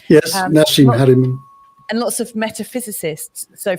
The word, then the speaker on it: Haramein: And then watching some like Nassim Haramein, or whatever is that, did I pronounce his name right? Yes, Nassim Haramein.